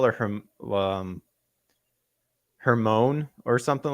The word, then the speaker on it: Hermione: I know mine like was Hermione. I know for a fact when I was young, I did not pronounce it like that at all. So I would have never guessed either by looking yeah, at it. I would have called her Hermine. I would have been like, Hermine.